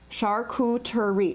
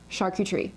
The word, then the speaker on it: charcuterie: like charlene shar q tree three syllables i hear people say charcuterie charcuterie no please please if you take anything from this video sharku tree not charcuterie okay so now that